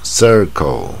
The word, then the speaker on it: circle: 是舌头往最下面走 circle 啊。